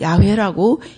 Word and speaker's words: 여호와: 어떻게 우리가 그냥 여호와라고 야훼라고 이렇게 말하지만 부를 수 없는 그런 단어로 되어 있습니다. 그래서 이 단어를 실제로 발음을 하지 않습니다. 그리고 여호와라는 단어가 나오면 아도나이, 다시 말하면 주님이라는 말로 그렇게 발음을 해버립니다.